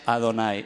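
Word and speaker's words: Adonai: era un rabino decía está escrito y h no más y se pronuncia ado nay es decir se está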